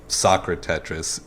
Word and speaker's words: SocraTetris: They don't see Really? the two halves, the Socra and the Tetris.